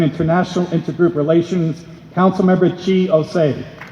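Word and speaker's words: Chi Ossé: everyone my name is chi osei if you have difficulty pronouncing my name i make the same corny joke every single time think of our national anthem oh say can you che i am the councilmember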